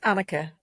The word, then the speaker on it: Anneke: It's Anneke, as in, you remember Anneke Rice? Yeah. It's that kind of pronunciation.